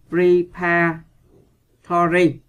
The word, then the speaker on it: preparatory: Câu C, các bạn đọc là preparatory, có nghĩa là các bạn nhấn vần 2.